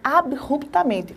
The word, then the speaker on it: abruptamente: palavra em si é abruptamente Olha só abruptamente esse b não forma a sílaba com R da palavra que forma o radical Então você tem que